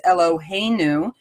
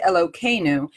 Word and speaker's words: Eloheinu: So you will often hear the names of Hashem, such as Eloheinu, pronounced Elokeinu, and the same happens with the various forms of Hashem's name.